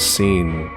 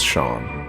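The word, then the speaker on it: Sean: My brain says seen, but I know it's Shawn.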